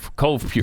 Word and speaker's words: CovePure: Cove Pure. Not Cover. Not Cover. Right. There's no R there. The R is silent.